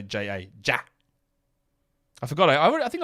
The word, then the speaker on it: Ja: the way I pronounce Ja. I don't really know how you expect me to say it. Oh, you say it like it's Ja, J-A-R. Yeah? How else would you say J-A?